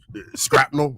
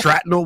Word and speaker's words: shrapnel: Well, I've called a lot of scrapnel recently. Scrapnel? Shrapnel, whatever the word is.